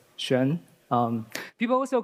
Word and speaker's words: Xuan: Um, that thing is pronounced as Shen.